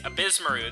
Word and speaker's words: Ebisumaru: courses oh boost maroon I could only pronounce abysmook correctly because they said in the opening thing so I'm just copying what I heard well it's abysmaru then this would be obesmaru which he challenges